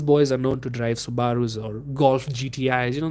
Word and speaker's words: Subaru: boy language uh these are boys who drive Subarus That's The Stereotype funny thing is Subarus or Subarus but you know if you see the spelling I hate people who call it Au subu bro it's spelled s u b a r